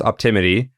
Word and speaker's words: Optimity: right up it's okay so it's pretty it's pronounced optimity it's spelled o p t i m i t y optimity okay exactly all right exactly as it